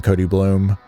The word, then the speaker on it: Koty Bluhm: Uh Instagram, uh just my name, Cody Bloom.